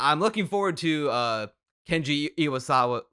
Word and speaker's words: Iwaisawa: So that's why I'm looking forward to Kenji Iwasawa. How do you pronounce this? Iwaisawa.